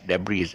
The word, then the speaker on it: debris: and it hasn't has debris but it's not pronounced with an s it's pronounced the plural